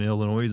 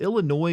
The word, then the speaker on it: Illinois: Illinois don't put an S on the end s is silent but how do we